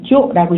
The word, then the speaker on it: 長女: 長女、 조라고 읽으시면 됩니다.